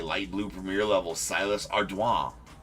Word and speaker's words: Ardoin: Because that's how Baseball Reference has it as phonetically spelled. Ardway. But, I mean, I feel like you throw a little French accent on there. I feel like it's French. And way because it becomes wa. So it's Ardoin.